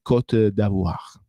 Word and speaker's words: Côte d'Ivoire: Attenzione che per gli amici a Costa d'Avorio non si pronuncia in italiano, va pronunciato solo e soltanto in francese, quindi Côte d'Ivoire.